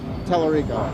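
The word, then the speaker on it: Tallarico: Telerico.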